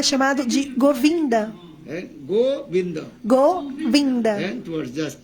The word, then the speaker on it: Govinda: E seu nome também é chamado de Govinda. Govinda. Govinda. Towards just syllable. Então, são duas sílabas separadas. Go e vinda.